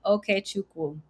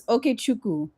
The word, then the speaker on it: Okechukwu: Okechukwu. Oh, very close. The W is silent, but that was good. How you say it? It's Okechukwu. Oh, the W is silent, but you were very close.